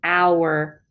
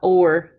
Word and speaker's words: our: Okay, so to improve our, we have to say our, not or. Hour like hour, an hour.